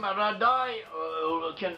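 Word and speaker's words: Raddai: We have a place named Rudy, and a similar name, Radai, would also be pronounced like Rudy.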